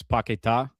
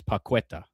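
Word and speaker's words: Paquetá: And if you were to look at it as a Spanish speaker, you would you would say his name is Pacqueta just by the way it's spelled. But he's got an accent on the last letter.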